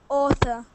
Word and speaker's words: author: that that word um au words have two possibilities they can either be horsey like uh or they can be Clocky so we've got uh horsey ones like Authur Authur and we've got Clocky ones like uh Australia Austria so we've got this one is a kind of horsey one author so the next one